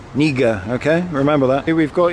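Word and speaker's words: књига: This is a silent K, like it is in English, so it's pronounced Niga, Niga, Niga, okay?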